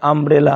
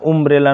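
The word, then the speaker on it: umbrella: চারের চারটে তাহলে সেখানে আমরা দেখব ইউ এর উচ্চারণটা আকারের মত হয় হসুকারের মত নয় তাহলে আমব্রেলা হবে আন্ডু হবে উন্ডু বা উমব্রেলা নয় কিন্তু আগলি বা আগলি হবে দিস ইজ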